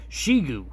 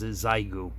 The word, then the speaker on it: Xiegu: the radio it's a zygoo g90 now i've been corrected on that pronunciation according to google by that spelling it should be pronounced shigu but the manufacturer of this radio actually pronounces zaigu so we're going to